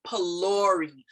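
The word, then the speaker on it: phulourie: of the word but we don't pronounce the ph there as f like an f sound we pronounce it like a p sound like a p sound and um so we say polari polari is a is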